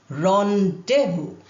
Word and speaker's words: rendezvous: First word, rendezvous. Now here, you can see the spelling and pronunciation are totally different.